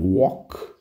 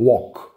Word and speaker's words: walk: O verbo walk é andar. Tem um detalhe de pronúncia, tá? Esse L aí, você não exagera nele, não. É bem seco, ó. Walk.